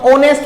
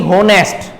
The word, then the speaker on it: honest: तो यहां हमारा ये H जो है ये क्या है, साइलेंट है। यहां पर H जो है एक वोवल नहीं है, लेकिन जब हम इस पूरे कंप्लीट वर्ड को बोलेंगे तो इसको हम ऑनेस्ट बोलेंगे, न कि होनेस्ट।